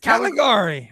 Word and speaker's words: Caligari: one of my top and she finished it for me Sarah say it you're mispronouncing it Caligari I seen that old wait is that all